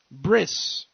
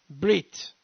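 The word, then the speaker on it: ברית: Shem, Aver, the Gematria 612, which is the value of covenant, bris, or for those of you that are more comfortable with Sephardi pronunciation, brit, covenant.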